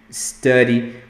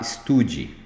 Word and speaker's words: study: O aluno falar estude. I study. Não está correto. O som é aqui na garganta, é um Esse U aqui vai lá na garganta, então você vai falar study.